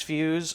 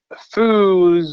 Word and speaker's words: Feuz: of Fe you Z so what I always tell people it's it's fe not fu so that's what I